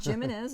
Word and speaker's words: Jimenez: I'm so sorry Jared Jimenez is the last name that's not human is what human is it's a h that J is pronounced like a h are you sure oh